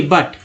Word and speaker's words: but: ब्यूटी बट में यू का उच्चारण क्या हो रहा है, BUT बट, क्या बोल रहे हैं, बट बोल रहे हैं, यू का उच्चारण आ हो रहा है।